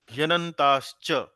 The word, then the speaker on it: ह्यनन्ताश्च: हाँ, ह्यनन्ताश्च, बोलिए।